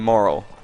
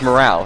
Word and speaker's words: morale: You said a question of moral. Like, yeah. I heard like it's morals, like because like instead of morale, it's normally we pronounce it morale.